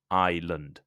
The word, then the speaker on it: island: slightly different the country the name is irand has three syllables Ireland Ireland while irland the geography like uh the Britain is an island Australia is an island only has two syllables isand so listen carefully so you know if I'm saying Ireland or Island so the island of